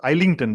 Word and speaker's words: Islington: All of us pronounce it as R versus Islington because island, so Islington.